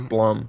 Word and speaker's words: Blum: it is Blum Jesus its Blum oh my god I heard something on youtube I watched videos I said bloom and then no it's done ok Blum house because